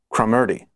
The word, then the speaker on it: Cromarty: Actually, Cromarty. It actually has a note at the bottom of the jacket that says, pronounced Crom as in Cromwell, Erdy as in 30.